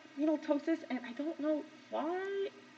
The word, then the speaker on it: ptosis: different person sorry okay so it's called renal ptosis where the p is silent um one or both of the kidneys